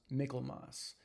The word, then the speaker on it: Michaelmas: Also, today is a very special day because today is Michaelmas, sometimes pronounced Michaelmas.